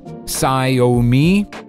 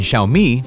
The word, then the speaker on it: Xiaomi: way to pronounce xiaomi you can hear a variety of pronunciation options scio me zayo me si o me exomi and even tsi omi in fact it's much simpler the word consists of two parts shall and me and xiaomi reads like xiaomi with